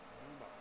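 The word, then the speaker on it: πνεῦμα: Pneuma, like words like pneumatic, means the Holy Ghost or the Holy Spirit.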